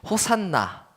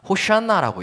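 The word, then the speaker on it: הושענא: 호산나, 우리말로 호산나라고 읽지만 히브리어로 읽으면 호샤나라고 읽습니다.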